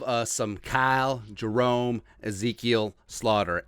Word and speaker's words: Sloter: some kyle jerome ezekiel slaughter aka sluter it's a dutch pronunciation uh he was a